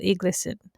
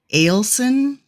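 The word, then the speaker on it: Egilsson: was directed by Eagle Iglesson. I hope I pronounced that right. I think it's actually Ailson. Ailson, okay. It's Icelandic, and they do a weird thing to the GL sound.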